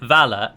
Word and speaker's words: Vala: And as many of you will know, a singular Vala is called V-A-L-A and is pronounced Vala.